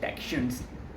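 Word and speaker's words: dachshund: मैंने बोला भाई उसकी स्पेलिंग देख, उसको प्रोनाउंसिएशन करते डैक्शंस, ठीक है, डैशाउंड नहीं।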